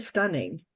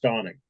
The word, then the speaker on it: Stauning: It's kind of stunning. It's really, the flavor is so interesting. Kind of It's pronounced Stauning. Stauning. It's Stauning. That's it.